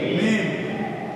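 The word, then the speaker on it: ميم: মনে রাখবেন আরবিতে মিম, বাংলায় ম একই জিনিস। আরবিতে মিম, বাংলায় কি ম, একই জিনিস। বলেন মিম, বলেন মিম জবর মা, মিম জবর মা, মা, মিম জের মি, মিম জের মি, মিম পেশ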